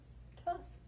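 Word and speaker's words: Tuff: should name him tuft tough because he's tough enough mm-hmm t-u-f-f to rhyme with the tough on the end of his tail t u f f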